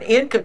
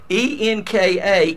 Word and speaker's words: Enka: to you is that historically income en ka came out of the abbreviated pronunciation of that Dutch company n co would not